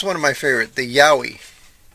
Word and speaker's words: yowie: ape um here's one of my favorite the yowie y-o-w-i-e I don't know if I've seen it right